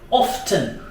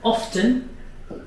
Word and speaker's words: often: How often? Now, let's underline this word often. Often is a British pronunciation. Americans always say often.